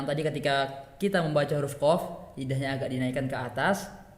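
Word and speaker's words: ق: Kalau huruf qaf dia naik, tapi kalau huruf kaf dia agak turun.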